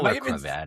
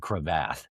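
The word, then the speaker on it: cravat: I like that I don't know what you know crevat is. Am I saying it right? A crevat. Well you said crevath.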